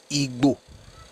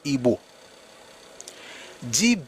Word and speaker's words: Igbo: is not how the ebo people of southeast pronounce their own names their own name they are not ego and I know this is like a very